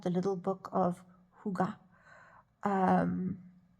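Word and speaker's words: hygge: check this word okay it's spelled h y g g e but it said Huga um so I've just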